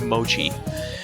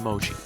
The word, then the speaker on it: mochi: But I completely forgot to get kagami mochi. Even if you don't eat it, that's important too, right? I was in a rush, okay? Yeah, that's how it's pronounced, right? Mochi with the ch sound.